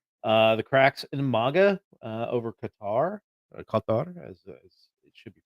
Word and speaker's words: Qatar: Marjorie Taylor Greene, the cracks in MAGA over Qatar, as it should be pronounced.